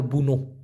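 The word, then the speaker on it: bunuh: করা ওটাকে বলা হয় বুনো বি ইউ এন ইউ এইচ উচ্চারণ হবে বুনু তা এটা আলাদা মরা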